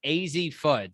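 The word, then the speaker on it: Azzi Fudd: pointed out they're like why are you saying her name wrong and we apologize for that it's i'm almost 100 sure it's easy foot so phil and ryan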